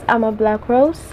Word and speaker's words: Amablakros: This is Ama Black Rose and my name is spelled A-M-A-B-L-A-K-R-O-S.